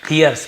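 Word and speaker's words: hears: और हियरिंग और हियर्स इसे हर्स नहीं पढ़ेंगे हियर्स पढ़ेंगे क्लियर हियर हियर्स ही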